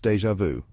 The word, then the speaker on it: DjVu: Enter DjVu pronounced déjà vu.